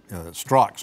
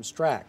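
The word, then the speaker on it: Strach: By the way, our producer, Will Mikes, reminded me that I mentioned the Board of Directors, Board of Elections Director Kim Strzok's name wrong the first time around. I do know it's Kim Strack, actually. Right.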